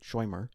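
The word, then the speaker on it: shomer: S H O M E R, but they pronounce it Schwmer.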